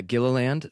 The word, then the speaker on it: Gilliland: officially for the record yeah Gilliland like like an amusement park Gila land where does that come